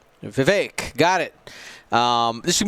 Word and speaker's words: Vivek: it's uh it's uh the that rhymes with the word ache vivek got it um this